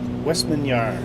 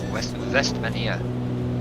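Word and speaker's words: Vestmannaeyjar: Westminster is the best explanation or the best pronunciation to come up with this.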